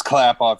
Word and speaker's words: Klappauf: It's clap off. You remember the old commercial from back in the day? The clap on, clap off, the clapper? It's Clap clap off.